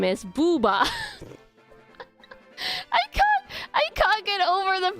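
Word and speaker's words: ブーバー: This is literally how you pronounce it. It's the silliest Japanese Pokemon name. Or if it's not the worst one, it has to be up there. Booba, yeah, Booba. That's his name. Booba. Booba. Magby is Booby.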